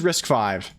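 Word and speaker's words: RISC-V: let's see risk V I'm sure Wikipedia will pronounce risk five okay this one is risk five system V and system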